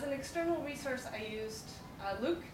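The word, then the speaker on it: LIWC: As an external resource, I used Luke, so it's LAWC is pronounced Luke, which is effectively a glorified dictionary.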